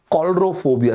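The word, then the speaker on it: coulrophobia: ओ बी आई ए दोस्तों ये है शब्द कॉल्ड ड्रोफोबिया सी ओ यू ल आर ओ दोस्तों एक्चुअली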